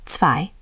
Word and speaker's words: zwei: Another contrast, zwei, two, versus drei, three. I'll say one, drei, three. Zwei, two. Great. Always listen for that ts at the start of zwei. That ts is the giveaway.